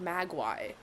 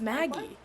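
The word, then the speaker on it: Magui: My English brain is like, no, that's like Magwai. Because there's a U. That's how you say it, no? No, it's Maggie.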